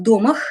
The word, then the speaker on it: домах: А в домах, ударение на первый слог он делал, Данилов говорил, что в домах с вот такой крышей